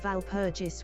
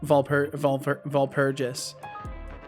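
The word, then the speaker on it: Walpurgis: Also, I believe it's called Valpurgis with the W pronounced like AV if I remember right. Yeah, you're right. You're almost guaranteed right, Megatron. Valpurgis.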